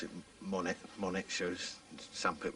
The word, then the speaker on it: Monet: then uh I quite like an artist called Monet so I named it after him Monet but pronounce it Monet Monet shoes some people call it monets and